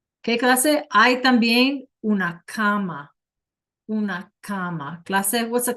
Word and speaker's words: cama: Yeah, it's not a comma like a comma, right? It's a bed. But we pronounce it like comma.